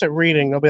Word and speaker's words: Reading: same with Reading. If you pronounce it Reading, they'll be like, no, it's Reading.